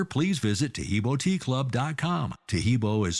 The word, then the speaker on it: Taheebo: Taheebo is spelled T like Tom, A-H-E-E-B like boy, O, then continue with the word tea and then the word club.